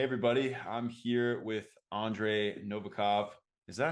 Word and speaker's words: Novikov: I'm here with Andre Novakov. Is that how you pronounce it? Novacov.